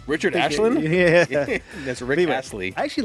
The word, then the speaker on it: Astley: Is that Ashton? Oh, Astley. And I've been saying it wrong this whole time.